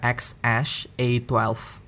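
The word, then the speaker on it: X Æ A-12: Nah, jadi salah satu yang huruf yang paling sering dibaca adalah yang A sama E-nya gabung, dan itu cara bacanya adalah Ash. X-Ash. Ya, jadi nama kayak gue bisa bilang namanya adalah X-Ash A12, X-Ash A12.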